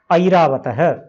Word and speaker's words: ऐरावतः: ऐ ऐरावतः, ऐरावतः। ये ए नहीं है। जैसे हिंदी में कई डायलेक्ट्स, हिंदी की कई बोलियां क्या करती हैं, थैला, भैंस, भैंस, थैला, इस तरह से ज्यादा शुद्ध होता है। संस्कृत में तो कम से कम ऐ बोलना ही है।